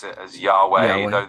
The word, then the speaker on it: Yahweh: People often pronounce it as Yahweh, though the exact pronunciation is something of a mystery since ancient Hebrew didn't include vowels.